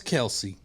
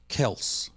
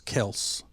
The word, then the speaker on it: Kelce: So anyway, Travis Kelce is not really Travis Kelce because his name is supposed to be pronounced Travis Kelce. There's no E sound on the end of it. Really? It's Travis Kelce.